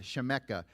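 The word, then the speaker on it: שִׁמְךָ: is now Shem and this is the little cough so it's chemeka that's how they pronounce with a cough on the end shemeka your name shemeka Laverne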